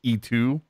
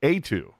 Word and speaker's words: Eetu: thought or at least most people were pronouncing it like E2 machinimi it's etu right well from what I've seen it's like A2 oh okay but either